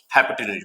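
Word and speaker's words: hypotenuse: Spelling देख रहा था। हाइपोटेनस बोलते हैं।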